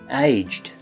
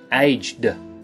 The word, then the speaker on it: aged: today is aged aged so notice that that has a soft T sound at the end aged it isn't aged how can you use